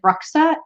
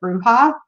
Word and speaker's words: bruja: with the bone stone i said bruxa instead of bruja like i'm still i'm